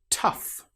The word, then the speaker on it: tough: Tough. In this example, the GH sounds like the F sound.